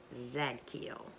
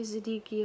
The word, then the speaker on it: Zadkiel: and your Archangel is Zack keel I always say Siddiqui oh I don't think that's right so I ask for forgiveness if I'm mispronouncing it can't hurt right but